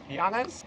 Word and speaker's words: Llanes: I think it's pronounced Llanes, even though it starts with two L's.